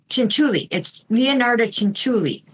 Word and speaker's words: Leonarda Cianciulli: and I'm not sure if I can still pronounce them. Okay. Leonarda Cianciulli. It's Leonarda Cianciulli.